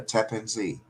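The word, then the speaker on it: Tappan Zee: the map next to a Amsterdam coffee shop tapan Z Street or I mean yeah did I say it right yeah Tap and Z which means tap and c z Ze means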